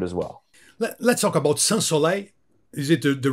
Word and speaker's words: Sans Soleil: take to it as well let's talk about SLE is it the right pronunciation SLE yeah I think it's a heat